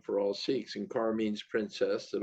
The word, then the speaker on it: Sikh: But the truth is that the word is pronounced Sikh, and but we are Sikhs.